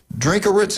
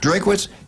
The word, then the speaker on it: Drinkwitz: Missouri, Drinkowitz. I say it right? Drinkwitz.